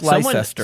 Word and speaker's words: Leicester: Sorry, did you say you you said it's spelled like Lyster Lester? Yeah, I was going to say for our non-M Massachusetts people, you completely ignore the fact that there's a C in the middle of Yeah. Yeah, I know. It's it it looks like Lester.